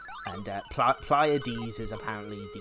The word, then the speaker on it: Pleiads: I was like, I need to know how this is pronounced. And Pleiads is apparently the correct pronunciation. Pleiads, yeah, there we go.